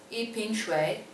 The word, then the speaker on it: 一瓶水: 一瓶水.